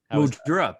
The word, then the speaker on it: Mildura: Did I pronounce it? Mildura? Mildura, perfectly.